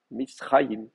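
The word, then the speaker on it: מצרים: Et donc, de la même manière, ici, dans Mitzrayim, l'accent va rester là, Mitzrayim.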